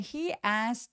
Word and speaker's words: asked: when he asked to ask to 근데 asked to인데 왜 ask to라고 중간에 요거 발음을 안 했을까요? 이유는 asked 할 때 K 소리는 열심히 내지 않습니다. 그리고 무성음 K로 끝났기 때문에가 통째로 트로 발음이 돼요. 그리고 T하고 T하고 똑같이 자음이 만나면 한 번만 발음하기 때문에 맞지? ask to 중간에 싹 사라지고 he ask 요렇게 소리가 납니다.